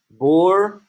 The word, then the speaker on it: bourgeoisie: Bourgeoisie.